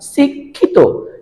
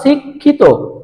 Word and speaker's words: শিক্ষিত: এর মতন ক্ষার ক্ষতি আবার যদি মধ্যখানে থাকে যেমন বললাম শিক্ষিত কি বললাম শিক্ষিত অক্ষর তাইলে খিয় টা কোথায় আছে মধ্যখানে এ কারণে উচ্চারণটা হচ্ছে কার মত ক খ এর মত যেমন দেখো অক্ষর শিক্ষিত